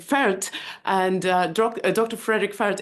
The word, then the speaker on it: Pferdt: I did uh somewhat I was trying to pronounce your name German way but I think I I didn't pronounce it very well it's Dr Frederick fer and uh Dr Frederick